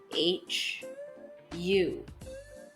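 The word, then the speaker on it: ሁ: Our second letter, which is Hu, is pronounced using the English letters H-U. Hu. Our third letter is He, and He is written in English as H-I.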